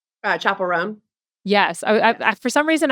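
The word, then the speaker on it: Chappell Roan: really like viral with I'm gonna say her name wrong. Chapel Roan.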